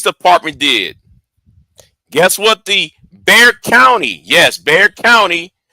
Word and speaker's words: Bexar: Guess what the Bexar County, yes, Bexar County. I know Bear spelled with an X, but it's Bexar County.